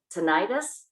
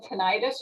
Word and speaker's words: tinnitus: there any treatment for tinnitus yes it could be said tinnitus or tinnitus either way okay most people when